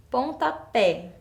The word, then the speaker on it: pontapé: que não existe então onde está a minha sílaba forte nessa palavra eu tenho aí pontapé então é um som aberto mas a minha sílaba tônica tá lá no final Então eu preciso colocar